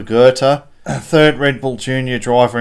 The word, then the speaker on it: Goethe: And then Oliver Goethe, I have it on good authority. The H is silent. So Oliver Goethe, 3rd Red Bull Junior driver in a row, car number 5.